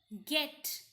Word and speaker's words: get: Like here in get, you might be expecting, since it is a E, J sound. But no, here we give the G sound.